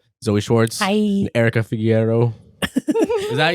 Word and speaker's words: Figueroa: And Erica Figueroa. Is that how you say it? Figueroa.